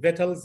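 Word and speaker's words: victuals: ولو كتبت له كلمه فيتلز هيكتبها لك في اي سي تي يو اي ال اس، بالرغم ان السي واليو والاي لا تنطق.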